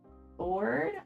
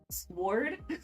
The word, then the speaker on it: sword: gosh come on guys silent W and sword oh sword yeah that sounds weird uh